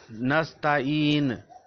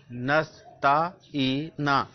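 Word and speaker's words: نَسْتَعِينُ: We shall try to pronounce it openly with hijye, with spellings. So, Nasta'in, Noon Zabar Sin, Nas, Te Zabar Ta, Nas, Ta, Ain Zer Ye, E, Noon Zabar Na, E Na, Nasta'ina.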